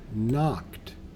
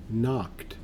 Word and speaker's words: knocked: a little bit tricky knocked that K is silent in this word knocked let's try it again